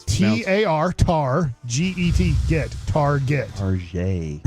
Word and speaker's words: Target: Like, Target. You never heard it called Tarjay?